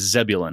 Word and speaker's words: Zebulun: My my brother's name is Zebulun. Zebulun.